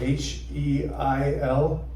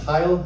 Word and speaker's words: Heil: It's spelled H-E-I-L. Okay, she thinks it's funny. It's not a good last name. If you don't, it's pronounced Heil. It's the German Heil.